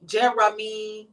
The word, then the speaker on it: Jeramy: Jeremy. It's spelled Jeramy. Oh, that was kind of weird. I mean, J-E-R-E.